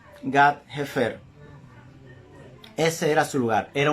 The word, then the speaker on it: Gat-Hefer: Su hogar se encontraba en Gat-Hefer. O sea, Gat con H-Hefer o Gat-Hefer. Porque la H, sobre todo en el hebreo, se pronuncia parecido a una J. Gat-Hefer.